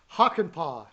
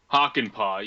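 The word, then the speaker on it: Hakanpää: yeah, and then Yanni Hankapaa. I think I said that No, right. I always yeah, mispronounce that's it. a tough one. It's Hockenpah. Yeah. Hakanpaa, yeah, Yanni Hakanpaa, who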